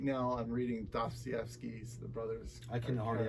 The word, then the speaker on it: Dostoevsky: So right now I'm reading Dostoevsky's The Brothers. I can hardly ever say Wow. that. Yes. It's a hard one to pronounce. So, Dostoevsky, did I say it right?